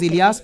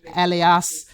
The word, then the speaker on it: Ilas: Even my name is Ilas. People call me Alas or Alias.